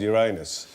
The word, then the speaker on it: Uranus: When did it stop being called Uranus? About 5 minutes ago, I said Uranus. I suddenly noticed that it could sound like your anus and uh I